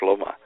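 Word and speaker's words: שלמה: Now in the Bible for instance in Hebrew Solomon is called Schloma uh which is a long way from saying Solomon.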